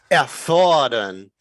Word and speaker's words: erfordern: Erfordern, to Yeah. demand. I just want to make sure you got the pronunciation right, and for everybody to notice the